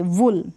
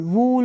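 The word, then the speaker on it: wool: वूल, अब इसको आप वूल नहीं पढ़ेंगे, वुल, क्या पढ़ेंगे वुल, वूल नहीं, वुल, ऊन जो होती है वुल।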